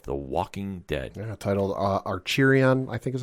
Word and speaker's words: Acheron: Yeah, titled Archerion, I think is how you say it. Acheron, Part 2.